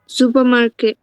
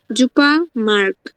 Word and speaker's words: Supermarkt: Supermarket. Supermarkt.